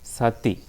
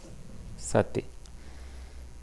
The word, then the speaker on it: sati: The Pali word is sati. Sati. It's not sati, it is sati.